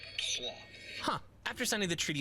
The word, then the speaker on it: Troyes: There's no way that's how that's pronounced. In French, it is pronounced Troyes.